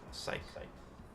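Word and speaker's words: cyc: It is spelled like that. C-Y-C. Psych.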